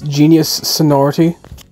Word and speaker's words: Genius Sonority: Then there's also the third game developed by the same people who made these, I've been mispronouncing it. It's Genius Sonority. So, this is editing banjo, just cutting in. Genius Solarity, or whatever you pronounce